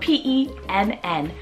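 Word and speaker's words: Penn: Moving on to the letter P, we have the name Pen, spelled P-E-N-N, Pen. Now this one, we are back again with another one-syllable name.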